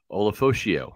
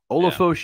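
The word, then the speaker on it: Ulofoshio: Olafoshio. There we go. Olafoshio. Yeah. Olafoshio was a captain for Washington, was their middle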